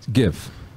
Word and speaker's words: GIF: a gif file but it stands for uh graphical interface file graph so it's a hard G so it's give kind of like Easy